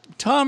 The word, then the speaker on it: Thom: Actually, it's Tom or Thomas is fine. That the odd thing is if you spell it out, Tom, it's THOM. So that's so it doesn't actually say Tom at all.